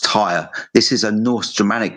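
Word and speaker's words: Týr: So it's pronounced tire.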